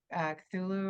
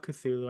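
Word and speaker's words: Cthulhu: together but I love cthulu I think and apparently cthulu isn't even like the correct pronunciation cthulu is supposed to be a un unpronouncable being we were just like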